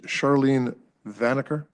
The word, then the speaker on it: Charlene Vaner: And with that, first one is Charlene Vaner. Did I pronounce that right? Yes.